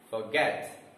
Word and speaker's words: forget: these are words so a world which is having two syllables usually the stress will be on the second syllable that is where the